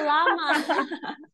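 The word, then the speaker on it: llama: Oh, Ah, lama. iya kan? Iya, iya, iya. Bacanya apa itu? Lama. Oh, Itu lama L, gitu ya. L-nya dua, lama.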